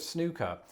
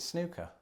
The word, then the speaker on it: snooker: firstly, the sport of snooker just isn't very popular in the United States. But when the word does come up, you don't pronounce it snooker. I say snooker, I guess, but Snooker, I don't okay.